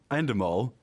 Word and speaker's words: Endemol: But going back to Endemol, is that how you pronounce it? Yeah, Endemol Shine.